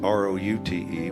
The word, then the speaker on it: route: mercy now a root r-o-u-t-e which is sometimes pronounced route sometimes root like route 66 now a root r-o-u-t-e